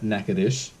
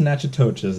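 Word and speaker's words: Natchitoches: the entire states and number 3 goes to NACA - it's not pronounced nacho cheese it's negative it's a small charming town it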